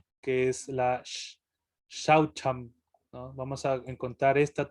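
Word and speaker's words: śaucam: Ajá, ahí se pronuncia Shaucham.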